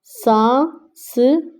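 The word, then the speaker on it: سانس: हैं ज रा जरा सा स सांस अब न नून के ऊपर गुना यह है तो यह हम साइलेंट करेंगे इसे नहीं पढ़ेंगे सा स सांस ल ए ले ल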